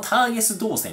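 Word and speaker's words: Tagesdosen: が TD ですねこれ発音あのターゲス同線って言うらしいんですけれどもあの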